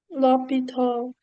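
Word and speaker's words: L'Hôpital: Lito. Okay. Okay. The L. Okay. So, there's no S. There's no H because of French.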